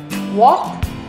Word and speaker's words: walk: Walk, talk, L is silent.